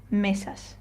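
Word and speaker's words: mesa: So if I were to read this word correctly, I would say meas. Okay? So I kind of stress or I put more emphasis on the first syllable or next to last syllable.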